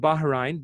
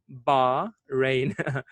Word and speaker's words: Bahrain: okay we I mean the correct pronunciation should be Bahrain say bar rain we say Bahrain they say Bahrain okay and the people